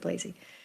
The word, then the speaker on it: Blazey: She makes sure pronounces it Blazey.